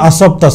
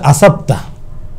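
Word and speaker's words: أصبتَ: শব্দটা আরবিতে ছিল আসাবতা, সদ দিয়ে, মানে তুমি সঠিকভাবে তীর নিক্ষেপ করেছো। শব্দটার উচ্চারণ ছিল সদ, কিন্তু সে উচ্চারণ করছে আসাবতা, সিন দিয়ে উচ্চারণ করছে।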